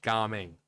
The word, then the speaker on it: Gaming: Okay, so it is pronounced gaming.